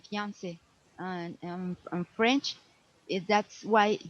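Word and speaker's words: fiancé: it fiance is from French say fance say fiance and on French that's why you you see in like is the same the pronunciation is the same here in English Okay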